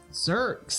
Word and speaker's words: Xerx: Minotaur's name is Xerx. Zerks. How does he spell that? Xerx. Nice. X-E-R-X. Xerx.